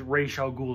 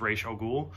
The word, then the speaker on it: Ra's al Ghul: Like, there's nothing to do with Ra's al Ghul or anything.